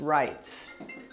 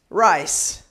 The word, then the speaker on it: rights: It's hard because the T is not a T sound, but you have to kind of have it just a little bit of it in there.